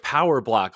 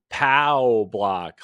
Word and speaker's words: POW Block: the Boss Rush why is everybody calling it power block lately oh my gosh power block what yeah you're you're the fourth person I've heard this week call it Nintendo power block because my pronunciation sucks it's pow block like the like the pow Block in Mario that stop stop deterring my